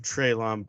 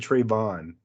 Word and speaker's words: Traylon: And I got a 100-yard game with Traylon Burks. That puts me in. Traylon. He's saying his name wrong. Yeah, I said Traylon. Traylon. Yeah. No, you said Trayvon.